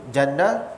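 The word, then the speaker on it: جَنّة: Tapi bahasa Arab, ejaan masih sama, cuma tukar bunyi. Jannah, jinnah, junnah.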